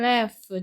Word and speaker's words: laugh: 요 and가 지금 talked하고 뒤에 있는 laughed하고 두 개 연결시켜주는 거고 얘 원형은 laugh, ghf 발음 납니다.